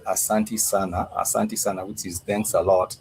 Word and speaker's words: sana: A lot, you would say sana. S-A, and it's two sana, A-N-A. So clip that. The word sana means a lot. A lot. You know, it's a 2-syllable word. It's 2-syllable only, but it means a lot.